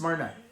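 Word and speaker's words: Smyrna: this is from um it's pronounced smrna s SM y RN a smna Samaria is sa a remember okay this is s SM y so SM okay that Y is pronounced no smrna yeah you did good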